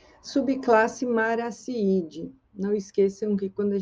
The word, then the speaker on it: Marattiidae: Subclasse Maraciide. Não esqueçam que quando a gente usa o T, quando aparece o T aqui no nome latino, a gente pronuncia com som de S.